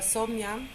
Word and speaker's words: Sowmya: Yes, I wanted to tell Sowmya. Am I pronouncing it correctly? Yes.